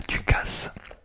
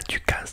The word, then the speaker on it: ducasse: utilisé également, que dans le Nord c'est la ducasse. Alors qu'est-ce qu'une ducasse? Alors c'est une foire au manège. Donc vous connaissez la foire de Paris, manège, etc. Et ben là c'est la ducasse, dans le Nord ça s'appelle une ducasse.